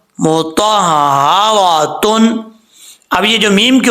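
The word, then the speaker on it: مُطَهَّرَةٌ: ہا کے اوپر شد ہے، وہ پڑھ جاتے ہیں مطہراتم. ایسے نہیں پڑھنا، بالکل غلط ہے. کیسے ہم نے پڑھنا ہے؟ ہجے کر کے میں آپ کو بتاتا ہوں. میم پیش مو، تو ہا زبر تو، ہا زبر ہا تو، را زبر را تو، را تا دو پشتن مطہراتن.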